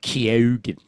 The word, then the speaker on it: Keoghan: It's pronounced Keoghan.